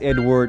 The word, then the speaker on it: Edouard: Now, if you don't know me yet, my name is Edouard. I pronounce it in the French-Canadian way, but for you guys, Edward or is just fine.